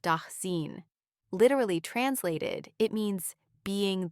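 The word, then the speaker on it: Dasein: He used the German term daen pronounced denine.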